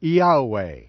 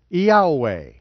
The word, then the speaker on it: Yahweh: didn't even know it I pronounce the name Yahweh joseph has stated that there were four vowels on the high priest urban you'd hey Val hey are pronounced as vowels in one breath Yahweh fluently Yahweh in Greek literature